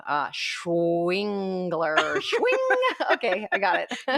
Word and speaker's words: Schwengler: So it's like, how did I learn to pronounce that person's name? Schwingler.